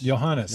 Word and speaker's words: Johannes: Johannes, Okay.